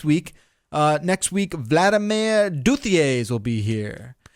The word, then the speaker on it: Duthier: Uh, next week, Vladimir Duthier will be here. He says, apparently he says Dutier.